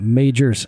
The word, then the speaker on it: Majors: invented kerosene major Beach Lighthouse and look how that's spelled Majors that's that's you pronounce it I almost said